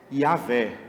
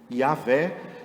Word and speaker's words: Yah: Uma das traduções do nome de Deus não é Jeová, é Yahvé. Já ouviu isso? Yahvé.